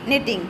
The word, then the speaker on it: knitting: K N I double T I N G, knitting. K को pronounce नहीं करेंगे.